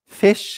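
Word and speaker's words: vis: thinking of now are the word fish, which is pronounced fish, but it's spelled V-I-S. But the pronunciation is fish.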